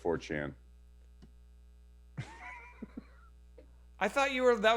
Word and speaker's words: 4chan: that's definitely not it people are making fun of me because i said fortune instead of 4chan i thought you were